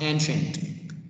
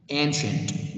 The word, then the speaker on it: ancient: to the sounds here c-i-e as a syllable we pronounce it as sh sound ancient this word means